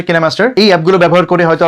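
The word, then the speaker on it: KineMaster: অনেকে হয়তো অনেক ধরনের এডিটিং অ্যাপ বা সফটওয়্যার ব্যবহার করেন, অনেকে হয়তো ফিল্মোরা দিয়ে এডিট করেন বা পাওয়ার ডিরেক্টর কিংবা কাইনমাস্টার, যার অ্যাকচুয়াল উচ্চারণ হচ্ছে কিনেমাস্টার।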